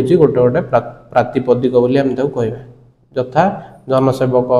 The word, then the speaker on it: प्रातिपदिक: से जो जनसेवकटा रहिबो से जनसेवक को आम कौन कहबा ना प्रतिपादिक सॉरी प्रातिपादिक बोली कहबा। प्रोनाउंसिएशन ठीक रखिबो, प्रातिपादिक बोली कहबा, प्रातिपदिक। तो जोड़ा आम कोड़ा कोड़ा